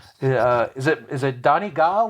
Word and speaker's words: Donegal: pennsylvania turnpike there's an exit for donegal it's pronounced donegal over here the first time i saw it i was like 10 years old and i pronounced it dungal and my dad thought that was the funniest